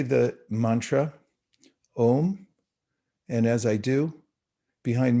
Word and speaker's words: om: emulate and the sound om uh the m you'll notice in ohm whenever it's spelled out has a little dot over it that makes it a kind of a nasal sound like bonjour and so when you